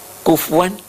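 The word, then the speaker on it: كُفُوًا: Kufuan ahad. Kufuan dibacanya kufuan atau kufuan.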